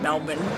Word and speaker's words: Melbourne: Australians actually don't pronounce the R, so it's more like Melbourne.